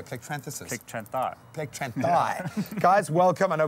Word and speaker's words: Plectranthi: Plectranthi.